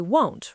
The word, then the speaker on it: won't: Sometimes it sounds like want. How do I fix that? Think of the letter O. It should sound like no or go.